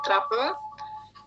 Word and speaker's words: truffle: Truffle, ya, truffle. Nah, ini kapangnya namanya jenis dari truffle, TRUFL namanya, truffle, bacanya gitu, ya.